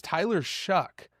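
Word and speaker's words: Shough: I don't think it's a full-on shuck, but but apparently that's what people are saying.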